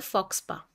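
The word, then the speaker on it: faux pas: ऊपर हंस रहे हैं उसका वर्ड होता है फॉक्स पा पी ए एस होता है एस साइलेंट होता है वेरी इंपोर्टेंट वर्ड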